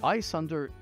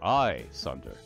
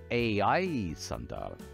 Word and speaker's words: Ayesunder: Ayesunder is how it's pronounced. Ayesunder. Except in the old days, back in Trondath, before people emigrated to what became Cormyr, the old pronunciation was Ayesunder, Ayesunder.